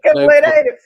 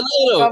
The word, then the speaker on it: cabeleireiro: So Cabeleireiro. Yeah, Cabeleireiro, there you probably.